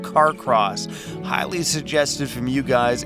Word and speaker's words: Carcross: Alright, we are entering the town of Carcross. That's how you pronounce that.